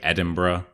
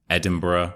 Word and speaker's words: Edinburgh: areas mainly Manchester and Edinburgh and that's how you say it by the way Edinburgh Edinburgh so not Edinburg it's more like edinb and we have the